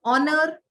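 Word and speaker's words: honour: kitchen T silent and ऑनर H silent तो इस तरह से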